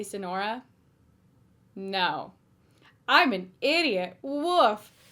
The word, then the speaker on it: Sonora: Anyway, Sonora, like the Sonoran desert, which I used to live close to, so you'd think I would know how to pronounce it.